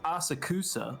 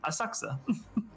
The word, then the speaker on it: Asakusa: The English VA says Asakusa like that with a really heavy Californian accent, and I assumed they would have given him the correct pronunciation, but they totally didn't. And then I was embarrassed when I got to Japan and I heard the announcer on the train be like, "Next station, Asakusa." Oh, dead center.